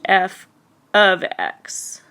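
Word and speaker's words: f(x): So now remember, this is pronounced f of x.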